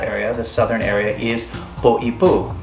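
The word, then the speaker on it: Poʻipū: the southern area, is Poipu, because it has the okina over the top of it, which separates the word, and the meaning of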